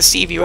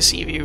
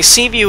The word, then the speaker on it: Seaview: release the sea moth I'm pretty sure I was saying it wrong before and just kept saying C VI for everything uh side note I do think it's funny C view is actually from The